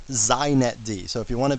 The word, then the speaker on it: xinetd: First, it's pronounced zet D. So if you want to be hip, you say zet D.